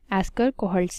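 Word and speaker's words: Eschscholtz: ठीक है, तो टीनोफोर्स एक डिस्टिंक्ट ग्रुप है जो कि सबसे पहले रिकॉग्नाइज किया था एस्कर कोहल्ट्स ने। सो इट इज़ ESCSCHOLTZ। Spelling थोड़ी सी मुश्किल है, एस्कर कोहल्ट्स, और ये किया था 1829 में।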